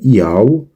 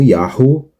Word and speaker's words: Yahu: Agora, o motivo pelo qual se ouve os judeus pronunciando este sufixo como Yau e não como Yahu é que no hebraico moderno a letra Re está perdendo seu som.